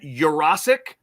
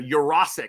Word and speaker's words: Jurasic: And then a pronunciation adjustment here, too. I like this one. Benjamin Jurasic, I believe is who we're going with. Do I have that right? Yes, we got a thumbs up there.